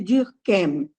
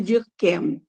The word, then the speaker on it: Durkheim: O Émile, ela cita aí Émile Durkheim, né? Em francês é Ah, eu falei Durkheim. errado, né? Não, você pronunciou em alemão, né? Em francês, porque ele era francês, é Émile Durkheim.